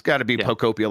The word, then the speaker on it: Pokopia: First First thing I want to ask you though, John, is how do you say Picopia? Uh we Picopia. Yeah, right? It's like dystopia, right?